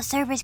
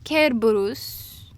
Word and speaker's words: Cerberus: you saying oh no it's it's Cerberus oh surface guards the gates of hell no it's careburus and he guards the